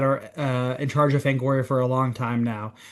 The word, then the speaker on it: Fangoria: Fangoria. one? Fangoria. Okay. So, one does want to pronounce the I.